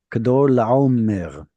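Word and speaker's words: כדרלעמר: is actually a closed and unstressed syllable, so it's going to have an O sound. Okay. Kador, Kador Laomer.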